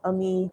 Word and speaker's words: Ami: Like I said, if y'all missed my earlier announcements, I just announced, my new name, Ami, pronounced Ami, just basically my name, Amina, but take off the na, so Ami.